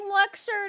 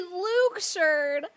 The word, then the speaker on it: Luxord: I keep saying Luxord and they say Luxord.